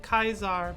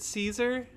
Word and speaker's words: Caesar: Oh yeah, the Legion pronounces it Kaiser, but a lot of the people who think the Legion are full of shit will pronounce it Caesar.